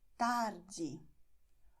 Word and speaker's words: tarde: Because many words have these endings, so they are going to be stressed in the second to last syllable.